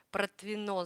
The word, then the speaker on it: Протвино: Наталья Белорукова, привет из Протвино, ударение на последнее О, Протвино, значит, да, извините, пожалуйста, что неправильно прочла.